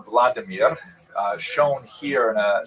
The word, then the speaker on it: Vladimir: What's uh especially important in its history is the conversion of one of its leaders pronounced in Russian Vladimir uh shown here in a statue overlooking the Dipro River that runs through the middle of cave.